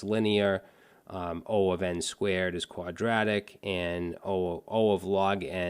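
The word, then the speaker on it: O(n²): quadratic time in Big O so this is pronounced o of N2 and over here you can see for quadratic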